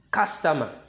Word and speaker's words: customer: Now, the first word, you can say you over there. But when you want to pronounce it, the you over there will sound, the sound of the you will be ah. The sound of the you will be ah. So you pronounce this word customer, customer, customer.